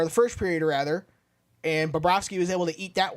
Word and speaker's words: Bobrovsky: And yes, that's how you correctly pronounce his name, is Bobrovsky, when he has games like this.